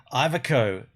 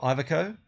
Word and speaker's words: Iveco: Iveco. Is that how you say it? Iveco? He said it, didn't he? He said Iveco.